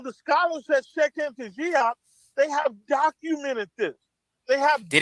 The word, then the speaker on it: Diop: I'm not French. I say Diop.